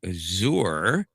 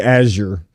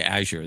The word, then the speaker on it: Azure: And now it may have something to do with Azour or Azure, however the hell you're supposed to pronounce it. Uh, it's actually Azure. Aure. Okay. Azure.